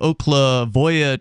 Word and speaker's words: Oklevueha: church, which is the Oklavoya Church, it's spelled Oklevueha.